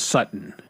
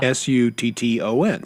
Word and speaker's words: Sutton: It's just young men, young women, they don't pronounce T's, and so like there's a player here in Denver. His name is Cortland Sutton. Okay, Yeah. Sutton, Sutton. Yeah. But they don't say Sutton. They say Sutton.